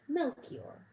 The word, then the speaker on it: Melchior: star and one named melchior rhymes with belle seymour perhaps there were others